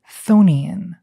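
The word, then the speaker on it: chthonian: I pronounce it thonian.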